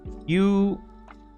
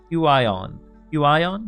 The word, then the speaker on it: Huion: Well, how do you pronounce this is a little different. Huion. Huion.